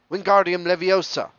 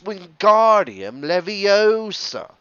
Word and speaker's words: Wingardium Leviosa: having much more luck wingardium leviosa he shouted wavy in his arms like a windmill you're saying it wrong harry heard hermione snap it's when guardian leviosa make the gar nice and long you'd do it then